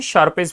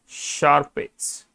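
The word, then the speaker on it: Sharpe's: And then आता है शार्पेस्ट model. शार्पेस्ट का कौन सा मॉडल? ये सिंगल इंडेक्स मॉडल। अभी क्या होता है देखना, शार्पेस्ट, शार्प्स बोलते हैं इसको, याद है ना आपको?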